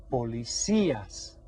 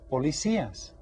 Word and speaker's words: policías: same they are los policías repeatin todos los holy see us and you hear that stress on that's accented I Holy See los policías all right so they